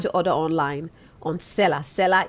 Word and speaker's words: Selar: Seller is spelled SELAR.